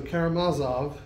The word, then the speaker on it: Karamazov: could never quite remember whether it was Karamazov or Karamazov. And for your information, when I was writing this message, I found more online examples of people who seemed to agree with that last pronunciation than for either of the others, so Karamazov is the one I'm sticking with, at least for now.